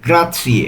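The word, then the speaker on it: grazie: গ্রা জি আর এ জেড আছে তো জেডটা ত এই যে ত আর সি এটা একসাথে উচ্চারণ হবে তাহলে গ্রাথি অর্থ ধন্যবাদ এটা আমরা সবসময় ব্যবহার করে থাকি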